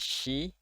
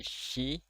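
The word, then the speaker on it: し: Lalu ada shi, ini dibacanya shi, bukan si tapi shi.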